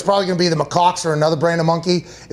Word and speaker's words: macaque: I believe it is pronounced macaque.